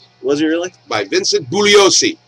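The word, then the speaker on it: Bugliosi: he really by Vincent buosi the g is silent he always read his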